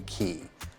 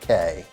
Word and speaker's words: Cay: Day at Coco Cay, but it's Key, so But in the Caribbean, specifically the Bahamas, those islands are called keys. So, even though it's it's phonetically it sounds like Cay, but regardless, Sandals Royal